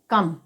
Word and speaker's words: come: इसी प्रकार COME, तो यहाँ पर ओ के बाद एम दे रखा है, तो यहाँ पर भी ओ का उच्चारण अ होगा। तो यहाँ पर COME, तो इसे हम क्या पढ़ेंगे, कम।